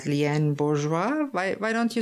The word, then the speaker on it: Bourgeois: oh I s and it's pronounced bourgeois now that's wonderful that's a French name yes very nice and